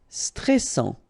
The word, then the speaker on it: stressant: Stressant. Okay, final T not pronounced, and then A-N-N, stressant.